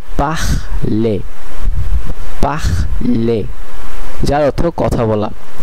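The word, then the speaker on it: parler: যদিও লেখা হয় কিন্তু সাইলেন্ট থাকে। যেমন এখানে একটি উদাহরণ আমরা দেখতে পাচ্ছি। পাখলে পাখলে পাখলে যার অর্থ কথা বলা।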